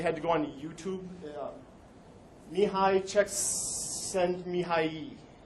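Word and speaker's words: Mihaly Csikszentmihalyi: Mihai Csikszentmihalyi. Yay. Is how you pronounce that. And for further proof that there is everything on the internet, there was a 6-second video of someone pronouncing this name. It made my life so much better. 'Cause if you look at that, that is not what I just said. There's silent letters all over the place in there.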